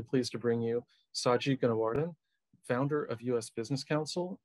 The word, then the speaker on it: Gunawardane: It's pronounced Gunawardane, and that's pretty darn close you got.